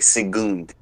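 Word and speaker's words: Şengün: I believe in Turkey the U is pronounced U, so it's like Sigund.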